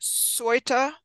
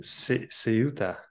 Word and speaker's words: Ceuta: And when I was doing the research for this, I came upon, is that Soita? Yeah, I don't know how they pronounce it. Ceuta. Ceuta. Ceuta.